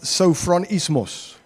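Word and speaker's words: σωφρονισμός: And this is the Greek word um it gets pronounced sofronismos.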